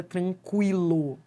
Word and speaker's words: tranquilo: Ó, esse U, isso aqui não é dígrafo. Por quê? Porque você pronuncia o U.